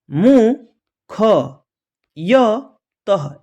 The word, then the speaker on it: मुख्यतः: निस्वार्थ मु ख य तः यानी मुख्यतः क्या पढ़ेंगे?